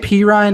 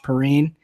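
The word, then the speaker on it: Perine: scare you away I think that's clear semaj P Ryan against Oakland and for those of you who barely know who some are JP Ryan is that's how you say it's not some Perrine like i pronounced it for two years while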